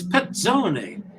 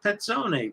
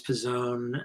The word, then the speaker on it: Pezzone: he said it's it's petzoni and so they said the two z's are like pizza z pezza pizzone and you